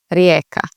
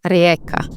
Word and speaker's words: Rijeka: that along those lines, because this J is a little bit tricky because it sounds like a Y and not a J. So you'd say Rijeka.